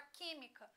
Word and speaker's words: química: A palavra química, sílaba tônica, antepenúltima.